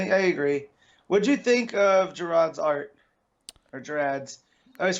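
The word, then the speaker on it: Gerads: What'd you think of Gerard's art? Or Gerard's? I always forget how to pronounce Gerard's, it's a hard G. Gerard's.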